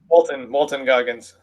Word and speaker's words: Walton Goggins: So like basically, you know, hires his hitman, who is played by Walter, how do you pronounce his last name? Goggins? Walton Goggins. Yeah, Walton Goggins, who I love.